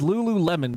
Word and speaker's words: Lululemon: Who wants to spell it? I mean, Panda answered it. Panda. Panda. Lulumon. Close. There's more in there, but yeah, no. It's Lululemon, basically.